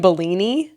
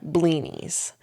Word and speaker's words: blinis: We heard salmon Bellini. It's a salmon Bellini. So I was thinking Bellini as in like peach Bellini, the drink. Yeah. It's spelled Blinis. Okay. Blinis.